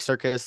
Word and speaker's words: Sirkus: Follow me on Twitter at Jake Circus.